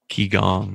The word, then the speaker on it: Qigong: I don't know if this is how it's pronounced, but Qigong. Qigong, yeah.